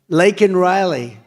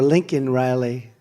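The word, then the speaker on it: Laken Riley: the Biden migrant crime lakan Riley and you know uh Biden was unable to pronounce her name called called her Lincoln Riley and this was right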